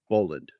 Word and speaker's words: Boland: Boland. Boland. And it's spelled the traditional way.